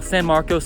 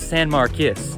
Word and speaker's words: San Marcos: Something to know before you visit here, a lot of people call San Marcos San Marquis. Many people will claim that San Marcos is the correct way to say it.